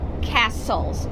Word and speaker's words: castle: pronunciation again castellas Celtic castles so we don't say Celtic we say Celtic and Castle you don't pronounce the T okay Celtic castles forget